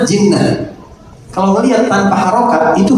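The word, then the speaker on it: جِنَّة: Jannah, junnah, jinnah. Kalau melihat tanpa harokat itu hurufnya sama, jim, nun, ta marbutoh. Tapi dibacanya apa nih? Kalau jannah surga atau kebun, junnah pertahanan, perisai, benteng, jinnah jin atau gila.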